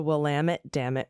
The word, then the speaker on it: Willamette: It's the Willamette Dammit River.